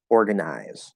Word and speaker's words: organize: In this case, it's for organize, the verb, it's I, organize.